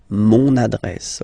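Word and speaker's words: mon adresse: address my address address mon address okay you can hear now this little link so you've got to pronounce this n address address okay and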